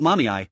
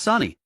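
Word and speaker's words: Sunny: "It's not mommy, it's Sani. How can you get both syllables wrong when there are only 2?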